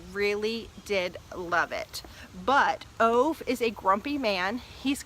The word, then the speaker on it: Ove: I actually read through the whole book with it being Ove, which I knew was wrong, but it's just how I was pronouncing it. But I did look it up, and it looks like it's Ove, like, yeah, Ove. O-O-O/V-E-H. It's a Swedish name.